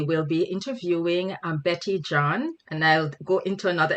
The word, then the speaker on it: Jean: our overall cultural competency her last name is spelt j-e-a-n and just seeing that word it makes me go to gene right and then what